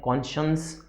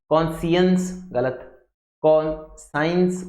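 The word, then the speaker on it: conscience: की स्पेलिंग आती है पढ़ा कैसे जाता है कौन साइंस नहीं पढ़ा जाता है बस यह ध्यान रखना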